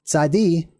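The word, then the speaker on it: צדי: dialects and accents okay zaidi is pronounced just like the double z in pizza I'm just writing it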